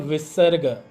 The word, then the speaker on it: visarga: So, how to pronounce? It comes from your chest. H, H, like a kung fu. H, H, H, H, H. Obviously, it uses the voice box, the guttural sound here.